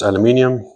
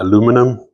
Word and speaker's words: aluminium: Now, if we look at the construction itself, it's aluminium or aluminum, whichever way you prefer to pronounce it.